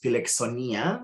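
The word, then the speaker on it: φιλοξενία: three the fourth bullet point down uh it's pronounced felix sonia which is an ancient greek word uh and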